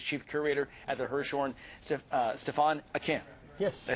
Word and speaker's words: Stephane Aquin: And here to tell us more about the exhibit is Chief Curator at the Hirshhorn, Stephane Aquin.